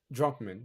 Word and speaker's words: Druckmann: Neil Druckmann, I believe that's how you say his name, says Druckmann.